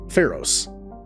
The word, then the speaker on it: Pharos: ones not so much pharaohs not pharaohs Pharos this and Pharos has